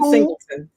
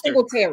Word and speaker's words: Singletary: Devin Singleton. Singletary. You said it wrong. It's Singletary.